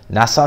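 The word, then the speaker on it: Nisse: Now, I've seen a lot of people say that Sauerland, so obviously Kalle Sauerland and his brother Nassau Sauerland, I think is how you pronounce his name, they've signed a deal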